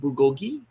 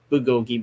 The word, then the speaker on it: bulgogi: have this high grade beef which is called bulgogi bul um for those in the chats if